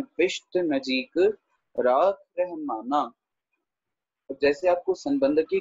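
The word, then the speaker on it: ਨਜੀਕ: नजीक को हम नजदीक नहीं पढ़ेंगे क्योंकि दद्दा नहीं लगा हुआ। अगर दद्दा लगा होता तब हम नजदीक पढ़ते, पर यहाँ पर नजीक ही उच्चारण किया जाएगा, ठीक है।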